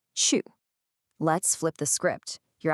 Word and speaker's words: 去: Well, for that, we're going to use the character chu, which is pronounced chu.